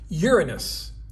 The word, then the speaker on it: Uranus: Uranus. Yes, I pronounced it correctly.